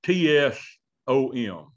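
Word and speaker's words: צום: And it's almost like it's a T-S-O-M is kind of how I would spell it, but it's pronounced tsom.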